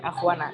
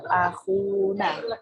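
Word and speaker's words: أخونا: Bukan akhwana, tapi akhuna. Saudara kami, saudara kita.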